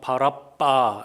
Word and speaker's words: 바라바: 이름이었습니다 바라바는 무슨 뜻인가 정확하게 발음하면 바라빠 이렇게 되는데요 아빠의 아들이라는 뜻입니다 신약성서에